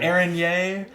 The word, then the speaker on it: Araignée: Araignée? That sounds better than what I said. Araignée. My French pronunciation leaves something to be desired.